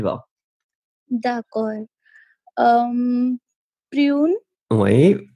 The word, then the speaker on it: prune: Prune. Oui. Be careful with the U. Remember, it's really narrow, so you U, prune. D'accord. Prune. Mm-hmm. And go strong with the PPP.